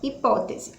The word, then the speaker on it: hipótese: novo então aí ó hipótese oito letrinhas e quantos fonemas 7 porque eu h e não é um fonema ok é é o mundo